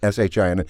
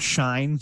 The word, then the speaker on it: Shin: says a shin show, SHIN. Anyway, get to look. the point. Yeah. And it is pronounced shin, too, not shine. Some people like to think it's shine.